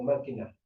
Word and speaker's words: máquina: ¿Dónde lleva el acento máquina? En la primera A.